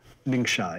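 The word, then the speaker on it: Ningxia: it up I think it is um uh ninga is that how it's pronounced ninga yep so what's ninga like in 2050 sure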